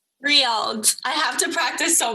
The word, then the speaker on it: Riyadh: The capital, Riyadh. Riyadh.